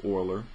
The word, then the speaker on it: Euler: have this euler so it looks like a euler e-u-l-e-r but it's pronounced oiler he is the person